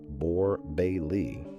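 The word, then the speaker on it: Borbély: In 1982, Alexander Borba, pronounced Borebe Bailey at the University of Zurich proposed a model that still governs sleep science.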